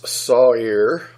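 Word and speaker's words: שעיר: singular also there's the word sight ear which is sa IR pronounce saw ear that's strongest number 81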